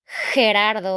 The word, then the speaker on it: Gerardo: Gerardo, okay? So it's not like G, it's like Gerardo.